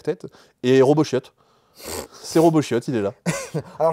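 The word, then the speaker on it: Robot chiot: et Robo chiot c'est Robo chiot il est là alors je crois qu'on prononce pas le T je veux pas je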